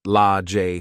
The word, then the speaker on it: Lage: Now, at 18, Sage had 2 sisters named Age, pronounced A-J, and Lage, pronounced La-J Smith, and 2 brothers named Fremonte, pronounced Free-Emonte, and Tremonte, pronounced Tree-Emonte, Jones.